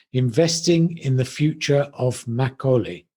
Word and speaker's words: Makgeolli: The title of today's podcast is Investing in the Future of Makgeolli. How did I do? That's right. You did perfectly. Makgeolli, perfectly pronounced.